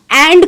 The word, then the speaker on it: and: Next slide, एंड को आप N pronounce कर सकते हैं, जैसे I will go एंड talk to हिम।